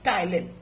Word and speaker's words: ptyalin: is also known as ptyalin. P is silent, and this helps in breaking down of sugars, basically, which are present in our food, into simple sugars called as maltose.